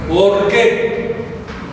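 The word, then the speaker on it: ὀργή: La otra es ¿por qué? O-R-G-U-E, acento en la E.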